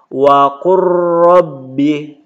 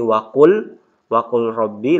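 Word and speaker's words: وَقُل رَّبِّ: Contoh membacanya ini waqur rabbi, tidak dibaca lagi waqul rabbi, lamnya langsung ke ro, waqur rabbi.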